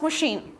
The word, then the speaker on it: machine: Washing plus machine. Washing machine. Обратите внимание на слово machine. Machine читается не по правилам, да, потому что сочетание CH в данном слове дает звук Sh.